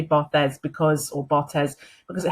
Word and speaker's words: Barthes: name sorry is pronounced bot he is french and um the french pronunciation would be bot but um i always say barthes because or bartes because